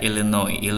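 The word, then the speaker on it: Illinois: Chicago ada Chicago Oke Ellen oi esnya nggak dibaca Ilen oil Enno ini salah satu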